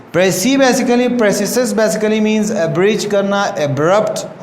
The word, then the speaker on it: praecisus: हम स्पेलिंग जिसके हम लिखते हैं PRAECISUS, प्रेसिसस. इसको हम लोग बोलते हैं प्रेसिसस.